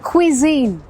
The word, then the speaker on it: cuisine: कितनी complicated spelling है ना, और जो प्रोनाउंसिएशन है वो भी थोड़ी सी कॉम्प्लिकेटेड है। इट्स क्विजीन, क्विजीन्स, बहुत तरह के क्विजीन्स हैं हमारे रेस्टोरेंट में।